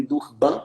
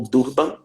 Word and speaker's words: Durban: do clima da ONU em Durban ou Durban tanto faz a pronúncia que teve a sua